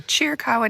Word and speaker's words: Chiricahua: So if you find yourself wanting to visit the Chiricahua National Monument, that's how you pronounce it, it's a free entrance park for